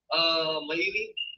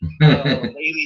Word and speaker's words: Maili: Maili, Maili C County.